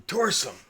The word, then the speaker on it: Torsum: I'm Torsum. Torsum. Torsum. Do you require assistance? Only 2 syllables. I was going to make a joke about my name, but because I've tore some ass.